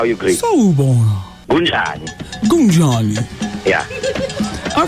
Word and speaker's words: Sawubona: Or maybe when you meet somebody in the street, you say Sawubona. Sawubona. Yeah, that's how you greet. Sawubona.